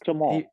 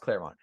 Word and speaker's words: Claremont: Clermont. Well, it's pronounced Claremont.